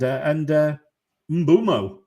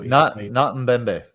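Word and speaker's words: Mbeumo: With respect to matchups going forward, and Mbumo, I've got not Mbembe.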